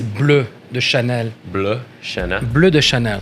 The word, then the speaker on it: Bleu de Chanel: Bleu de Chanel. That's the proper pronunciation.